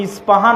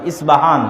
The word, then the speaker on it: ইস্পাহান: আছে আমরা পচ্চারণ করি ইস্পাহান আরবিতে এটা উচ্চারণ হয় না আরবিতে হয় আল আসবাহানি বা উচ্চারণ হয় ইসবাহান বা আসবাহানি সেখান থেকে 70000 ইহুদি